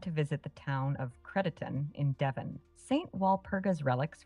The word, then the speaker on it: Crediton: Yeah, Crediton. God damn it. Oh, sorry. Push the wrong button again. No worries, pronunciations can be tricky. It's pronounced Credit-un.